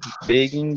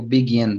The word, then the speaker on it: begin: Só a sílaba tônica que você tinha dito begin, mas é begin, begin. As palavras em Ah, inglês têm uma ok. tendência a ser a sílaba mais forte a primeira, na maioria das vezes. Mas nessa é o begin, tá?